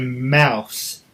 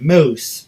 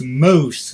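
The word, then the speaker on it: mousse: And I thought it said mouse. M-O-U-S-S-E. I was like, okay, weird way to spell mouse. And then I found out it said moose. But no one told me to after the fact. It's like, okay, what do you want for dessert? Yes, can I get the chocolate mouse cake? That's awesome. And my dad's like, it's moose.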